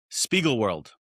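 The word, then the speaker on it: Spiegelworld: Spiegel World.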